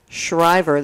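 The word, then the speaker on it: Schriever: office of emergency service public assistance division 3650 shriver that's spelled s-c-h-r-i-e-v-e-r avenue in mather california nine five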